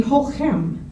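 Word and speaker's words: chochem: but I'm told that the CHs are pronounced as though they're sort of a guttural H. So in this case, the word would be hochem, a Yiddish word meaning wise man with overtones of wise guy.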